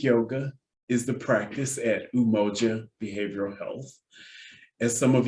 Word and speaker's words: Umoja: the middle and um our agency name is pronounced umoja and if you forget how to pronounce our